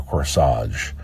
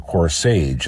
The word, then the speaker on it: corsage: so to buy a flower corsage or coerce age as he pronounced it since Helena Thelma Lou